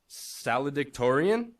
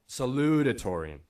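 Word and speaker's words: salutatorian: Now I stand before you as your saladan. I I think that's how you pronounce it. No, no, no. Sorry. Saludatoran.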